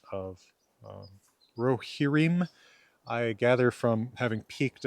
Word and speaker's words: Rohirrim: stress pattern, but I think it's supposed to be Rohirrim, and I was saying Rohirrim. My default foreign language is Old Norse or Icelandic, so I tend to emphasize unfamiliar words on the first syllable.